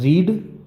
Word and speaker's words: read: इसका second form इसी spelling के साथ रेड पढ़ा जाता है, READ रीड। ये फर्स्ट फॉर्म में पढ़ेंगे और इसी स्पेलिंग को भी रेड पढ़ते हैं, READ, जो वर्ब की सेकेंड फॉर्म होती है यानी पास्ट में होती है।